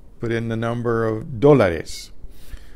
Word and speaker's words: dólar: Or you could say cuesta, put in the number of dólares. Dólar spelled with an accent on the O.